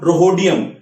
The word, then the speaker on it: rhodium: RU आप लोग मिला लीजिएगा एक बार, रुथेनियम, और RS से हो जाएगा रोहोडियम, RHODIUM, ठीक है, रोहोडियम, या H साइलेंट करोगे तो रोडियम हो जाएगा, तो जो भी है, तो इसको आप देख लेंगे एक बार, ठीक है।